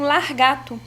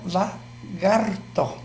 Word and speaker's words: lagarto: Essa mudança desse R, né, de uma sílaba para outra, ela de verdade assim, ela piora a pronúncia.